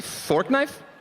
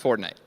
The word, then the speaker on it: Fortnite: Did you say fork knife? It's actually pronounced Fortnite.